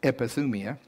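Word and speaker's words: ἐπιθυμία: it up in strong's it's g 1939 it's pronounced like it matters epithumia now get this it is a longing especially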